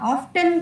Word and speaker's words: often: Yeah, often it's wrong. T is silent.